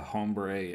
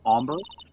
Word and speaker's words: hombre: a chad was that was that a hombre a friend of yours it's pronounced ombre oh omba sorry kinda